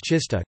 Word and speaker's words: czysta: Polish words czysta, clean, F, pronounced with an affricate, T, and trzysta, 300, pronounced with a sequence, T, are an example of a minimal pair based on such a contrast.